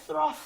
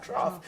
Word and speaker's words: trough: the central parishes and trough is the B of my existence the clinician at the time didn't pronounce the word trough trough he said Thro so for about a year